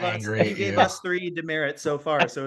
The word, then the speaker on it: DeMerritt: isn't it cool my my last name is awesome huh it's like a it's a military punishment but it's also just like a regular name I actually was thinking that as I pronounced it I was like oh like a demerit exactly I mean how